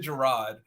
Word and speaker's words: Jarrod: called much worse um I pronounce it gerro funny story my mother